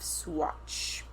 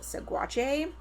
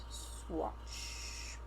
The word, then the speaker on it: Saguache: It's spelled Saguache. And so I wanted to pronounce it Saguache. But we looked up like a pronunciation and it's like Swaro. Swatch.